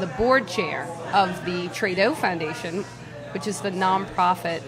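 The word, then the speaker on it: Très Doux: So Trudeau. Actually, that's pronounced.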